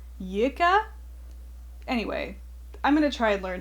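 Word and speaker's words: lykke: I've been calling it likey, but it sounds like Yika.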